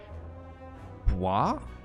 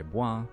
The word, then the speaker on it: bois: You pronounce the re normally, but when you personally use it, it becomes je bois, and the S is silent.